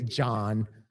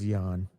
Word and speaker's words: Jahn: It's spelt Jahn. So it could be John, but I thought it was Jan. Here? I don't know. Jahn 349.